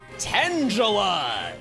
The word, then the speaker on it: Tangela: Tangela is how they pronounced it in Pokémon Stadium.